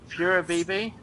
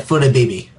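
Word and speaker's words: Flabébé: Second scan, which is, oh god, I'm not even trying to pronounce this. Furabibi? Yeah, Furabibi.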